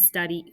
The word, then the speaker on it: study: know because copying and study copy and study are exceptions but it sounds like a long e right and since we're